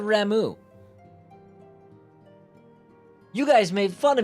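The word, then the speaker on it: Ramuh: She said Ramu. You guys made fun of me when I said Ramu. So you guys made me say, but other games they pronounce it as Rama.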